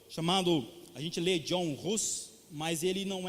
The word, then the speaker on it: Hus: Então a língua é a língua tcheca, e a pronúncia é Jan Hus.